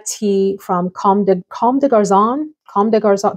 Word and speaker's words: Comme des Garçons: Comme des Garçons, that's the pronunciation we're going with.